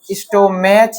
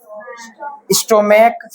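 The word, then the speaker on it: stomach: जब सी एच का उच्चारण क्या हो? को क्या हो? क तब उसमें सिर्फ एस लगता है। जैसे इसको क्या पढ़ते हैं? स्टोमेच या स्टोमेक। स्टोमेक इसको क्या पढ़ते हैं? मोनार्क या मोनार्च? मोनार्क मोनार्क पढ़ते हैं।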